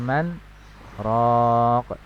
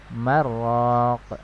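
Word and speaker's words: من راق: Wa qila man raq, man dengan raq ini berbeda, ya. Jika dibaca wasal tanpa saktah maka akan terjadi hukum idgham bila gunnah, ya. Marraq, ya, kalau dibaca wasal jadi marraq, ya.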